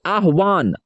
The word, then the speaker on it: आह्वान: दोनों विद्वान ने राजा की आह्वान, देखिए इसे पढ़ेंगे आह्वान, आह यहाँ पे लिखा हुआ है, आ आधा ह है और वो के पास एक आकार है, इसे पढ़ेंगे वाह नौ,